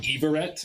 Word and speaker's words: Hiverete: Spelled spelled Hiverete. But pronounced Everett? Everett, yeah. Okay. H is silent. It's French.